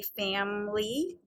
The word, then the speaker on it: family: So the interesting thing about this word is when we say family, we do not pronounce this I, but we can hear it in related words.